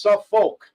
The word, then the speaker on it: Suffolk: It's not pronounced like Norfolk. It's Suffolk, right?